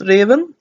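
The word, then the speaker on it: Ruthven: only reason why I know it is actually pronounced Raven is because I have seen a lot of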